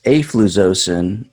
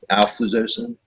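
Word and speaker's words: alfuzosin: So yeah, the rundown is afluzocin or urolactol. I think I butchered that one. I don't think that's in the top 200 range, but that's one you do see. You'd see it occasionally. Alfluzocin.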